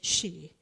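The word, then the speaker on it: sídhe: The Power of she it's spelled s DHE e but spell in gaic it says she and it's the elemental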